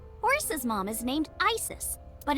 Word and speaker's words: Isis: probably yeah and about Asa horace's mom is named Isis but in ancient Egyptian it's pronounced closer to ISA or ASA hmm how do I